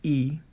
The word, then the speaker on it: y: take number 90 noventa you link noventa to the Y which is and and you pronounce it e noventa e and then